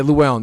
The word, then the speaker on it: Llewellyn: great um okay is it this is fun llewellyn llewellyn is from europe uh uh louis wait i'm saying it wrong how do you say that name paul you know how to say his name well yeah luellen yeah uh read this is he joking or